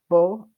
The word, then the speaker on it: beau: Beau. It's a lot of vowels at once, but it's just beau.